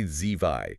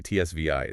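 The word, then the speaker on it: zwei: So you don't say ZVI, you say TSVI. It's kind of explosive. If you can master that TS sound, you instantly sound less like a tourist.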